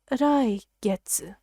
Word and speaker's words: 来月: It's pronounced 来月.